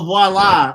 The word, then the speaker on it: voila: My mom said the app is Viola. This literally looks like me and Watch this not be on Android. What'd you say, Mom? Okay, it's on Android. Oh, voila. Oh, we were pronouncing it all the way wrong.